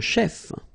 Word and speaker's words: chef: is quite easy a chef a musici Daner comedian shter server okay so let's see them Chef so remember C it will give you the sh sound a chef okay then